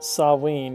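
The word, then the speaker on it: Samhain: Approximately pronounced sawin is a gaic festival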